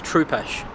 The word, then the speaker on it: Trupesh: My name's Troopesh. Troopesh. Troopesh. And it's spelled Right.